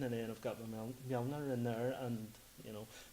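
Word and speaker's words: Mjölnir: How's it pronounced? Mjolnir.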